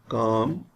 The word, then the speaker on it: calm: L is silent in these words. Calm, half, talk, walk, would, should.